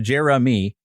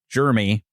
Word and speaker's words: Jeremy: So, but I understand the multiple syllable name because really my name's supposed to be pronounced Jeremy with 3 syllables. And for years, it's been a 2-syllable Jeremy.